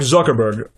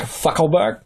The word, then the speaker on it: Zuckerberg: be here I'm sorry did you say his name was Mark fuckle BG um that's Zuckerberg with a z okay then with a